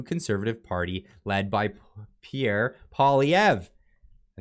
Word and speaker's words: Poilievre: against a new conservative party led by Pierre Poilievre.